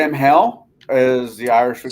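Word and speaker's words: Samhain: bring up Halloween really quick or uh say Sam hell is the Irish we call it I miss pronouncing that Sam ha Sam ha yeah Sam ha which the night of Halloween for the is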